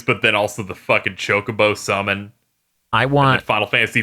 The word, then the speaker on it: Chocobo: It's how I learned that Chocobo is pronounced Chocobo.